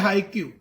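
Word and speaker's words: haiku: सो इट्स हाइकू, हाइकू, proper pronounce, it's नॉट हाइक्यू, इट्स हाइकू।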